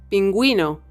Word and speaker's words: pingüino: on top of it that symbol means that the u is not Silent and it must be pronounced let's see some examples bilingue verguenza nicaraguense zigo edad Wii pingüino piragüista lingüística contigüidad bilingüismo